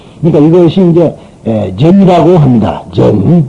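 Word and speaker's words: 禪: 그 전이라는 말을 일본 사람과 중국 사람은 전이라고 그러고요. 우리나라 사람만 선이라고 그럽니다. 참선한다 할 때 전에 들어간다. 원 발음은, 인도 발음은 전입니다. 그러니까 중국 사람은 당연히 발음을 취했으니까 전이라고 할 수밖에 없고, 일본 사람들도 오나라 말을 쓰기 때문에 오음을 쓰기 때문에 전이라고 하는데, 우리나라는 우리나라 발음을 쓰니까 선이라고 말한다.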